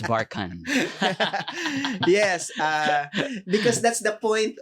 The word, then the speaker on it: Barchan: So I'd like to officially teach everybody that it's not Barchan, it's Barchan.